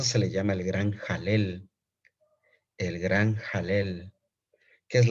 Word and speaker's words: Halel: le llama el gran jalel. El gran jalel. ¿Qué es la palabra? ¿Qué significa la palabra jalel? Se escribe H-A-L-E-L. Alel, así se escribe. Alel con H. Pero se pronuncia jalel.